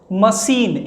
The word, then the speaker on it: machine: मशीन, MACHINE, मशीन, मशीन में किससे आ रहा है?